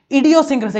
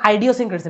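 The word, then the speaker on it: idiosyncrasy: ইডিওসিনক্রেসি, এগুলো তো আইডিওসিনক্রেসি না, হচ্ছে ইডিওসিনক্রেসি, ইডিওসিনক্রেসি মানে মেন্টালিটি বোঝায়।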